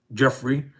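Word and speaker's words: Giuffre: Ms. Goffrey, pronounced Jeffrey, died by suicide, so they say, according to a statement by the family.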